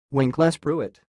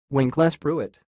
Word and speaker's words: Winklespruit: how pronounce this word the pronunciation of this word is sounds like when class Pruitt wink less Pruitt and again when class Pruitt when class Pruitt that's